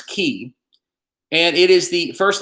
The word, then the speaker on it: chi: It's chi.